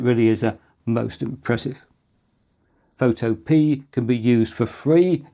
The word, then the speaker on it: Photopea: Oh, and just to note, it is pronounced Photopea and not Photopear.